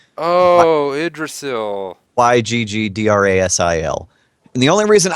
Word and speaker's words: Yggdrasil: This one I know how to pronounce. It's Yggdrasil. Oh, Yggdrasil.